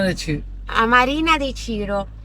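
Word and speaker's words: Cirò: A Marina di Ciro. E Ciro, accento sulla O. Ciro.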